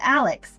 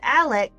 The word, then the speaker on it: Alec: that your name is Alec." And then when I was talking to people and they would say his name wrong, I would say, "No, his name is Alec like Alec Baldwin."